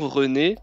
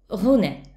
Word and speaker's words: René: René donc le prénom René ré r c'est le même e que dans petit c'est pas René Renet Renet ou comme comme